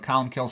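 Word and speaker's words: Columcille: you know it's here's how it's spelled but colum kills how it's pronounced he lived from about 540 to 614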